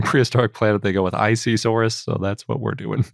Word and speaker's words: Isisaurus: an it's a abbreviation yep how do you pronounce isi we can't call it isi Soros that would be crazy but in prehistoric Planet they go with icesaurus so that's what we're doing yep I kind